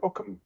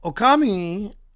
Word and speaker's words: Okami: It's the how do you pronounce it? Okami.